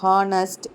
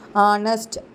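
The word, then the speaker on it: honest: ஹானஸ்ட், hour அப்படியெல்லாம் இருக்குல்ல. ஆனால் நம்ம இதை எப்படி ப்ரொனவுன்ஸ் பண்ணும்போது எப்படி ப்ரொனவுன்ஸ் பண்ணுவோம்? ஆனஸ்ட், அவர் அப்படின்னு ப்ரொனவுன்ஸ் பண்ணுவோம்.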